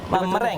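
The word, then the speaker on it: meringue: Okey, Tapi mering. kalau ejaan dia kita akan panggil merengue. Oh, dia macam bunyi merengue. Jawa sikit. Oh. Dia akan bunyi Jawa sikit tapi dia sebenarnya mereng Mereng, saja.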